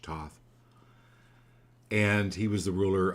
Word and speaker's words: Thoth: Thoth is how you pronounce it, Thoth, Thoth.